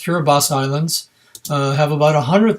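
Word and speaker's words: Kiribati: rise the cura bus and that sounds pronounced cura bas islands have about a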